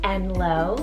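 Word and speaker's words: Enloe: begins with the letter e is the name enlo so spelled e-n-l-o-e this one's an invented name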